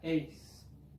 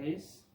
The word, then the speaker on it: ex: A veces va a decir minha ex. Mismo así, mismo que no haya ningún complemento después de la palabra ex, siempre con sonido de S.